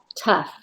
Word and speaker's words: tough: So So think tough, tough, tough, tough, tough, with an F at the end.